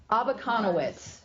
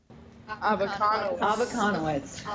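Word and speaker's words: Abakanowicz: Abakanowitz. Abakanowitz.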